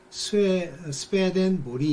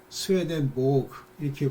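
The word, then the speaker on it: Swedenborg: 유명한, 그러니까 그런 면에서 유명하다는 게 아니라 그분이 이 스웨덴 보그라는 분이에요. 그래서 이제 그거를 스웨덴 발음으로는 스웨덴 보리 이렇게 부른대요. 그렇지만 뭐 이제 그걸 영어식으로 독일어식으로 이렇게 하면 스웨덴 보그 이렇게 부르기도 하고 그런데요.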